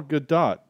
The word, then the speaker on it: Gadot: with a t and it just sounds like it's a soft t yeah but like the